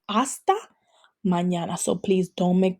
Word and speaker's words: hasta: It could be hasta mañana. Hasta mañana. The H is always silent. Every time you see an H in Spanish, it is always silent. So we're saying hasta mañana.